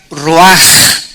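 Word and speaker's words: רוח: entonces la palabra hebrea Roach que se pronuncia Roach la ch en el hebreo se pronuncia como jota y que es la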